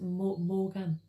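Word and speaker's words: Maugham: by w somerset um i think it's pronounced morgan m-a-u-g-h-a-m we are not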